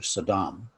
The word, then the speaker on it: Sodom: So, now, Rabbi Brous went to some lengths to tell the real story of Sodom, or as she pronounces in Hebrew, Sodom, to pose to Brian Stevenson the power of